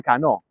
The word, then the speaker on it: cano: dell arma vunque Cano Come si recita a scuola arma vunque Cano Perché si mette l'accento sulla o di Cano dove c'è il tempo forte e quindi capite che